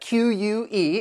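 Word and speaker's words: clique: little bit of love the next click that QE it does it has that k sound but it's referring to a a small exclusive group of people and what what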